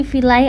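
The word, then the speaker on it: viel: Nah di sini vilai artinya mungkin kalau I ketemu E itu bacanya itu jadinya double i jadi vil. Ini kan feel jadi bacanya itu jadinya gini double i feel la itu untuk vilai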